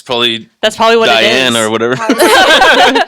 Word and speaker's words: Dyan: Dyan. Diane. I know, it's a weird name. It's spelt funny.